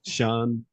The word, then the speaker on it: Sjeanne: Is Sjeanne Cawdry, is that right? Yeah, the first part's great.